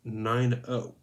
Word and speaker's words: Nino: She pronounced the name 9-0.